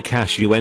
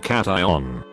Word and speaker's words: cation: unionize for me or ask them to pronounce keishon the average person would say cashew n instead of cation computer science are you